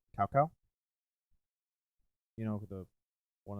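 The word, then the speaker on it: Cao Cao: they like started saying is like this is salsa i'm like no it's cow cow you're saying it wrong developers this is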